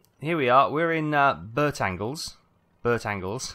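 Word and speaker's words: Bertangles: we are we're in Burtt angles Burtt angles I love that it's not going to be pronounced like that but we're going to call it Bert angles so Bert angles ahead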